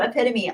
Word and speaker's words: epitome: Epitome. That's a great word. Epitome is a wonderful word. But yes, I've heard a lot of people say epitome, which is really funny. It is funny to see people pronounce words incorrectly, but I can't judge